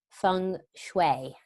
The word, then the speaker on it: Feng Shui: now with, I'm going to say it right, Feng Shui.